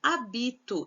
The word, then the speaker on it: habito: Habito não tem acento, hábito tem acento. Percebe que o A é mais aberto.